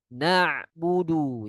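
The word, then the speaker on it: نعبد: Ini ada sebagian yang lafalkannya huruf hamzah. Karena budu. Ini harusnya satu lagi merubah sifat juga ya. Oh iya, di sini juga ada ya merubah sifat ya. Selain salah pelafalan dengan hamzah dia juga merubah sifatnya. Huruf ain memiliki sifat eh bainiyah. Sebagian suaranya keluar, sebagian lagi tertahan ketika dia mati. Karena na masuk sebagian ya, sebagian lagi keluar.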